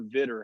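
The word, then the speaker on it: Vidor: all the way to why is it vitor or vitter how do you say it that's vitor vitor texas fighter so i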